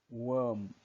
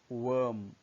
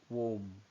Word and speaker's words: worm: Third is worm, worm, not worm.